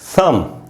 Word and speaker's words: thumb: उसके बाद है दोस्तों थम, जिसका मीनिंग होता है अंगूठा, THUMB। बी एंड में है, एम के बाद है, साइलेंट होगा, थम।